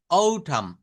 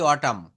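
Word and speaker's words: autumn: Spring অর্থাৎ এই উচ্চারণগুলো আমরা কিন্তু ঠিক এইভাবে করব। ওঠাম আমরা বলি অটামু শরৎকালও হেমন্তকাল late অটাম late late late ওঠাম ওঠাম।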